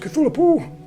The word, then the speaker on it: Cthulhu: Cthulhu. In canon, no one knows how to pronounce these names. They're alien. I mean, So people like legitimately, Lovecraft wanted to pronounce it Cthulhu.